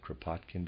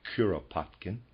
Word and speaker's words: Kuropatkin: the Russian general kuropatkin excuse me I pronounced it kropotkin before readers aside that's incorrect it's kuropatkin and the readers aside the